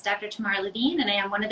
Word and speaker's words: Tamar Levene: you got it spot on so it's dr tamara levine and i am one of the pediatric surgeons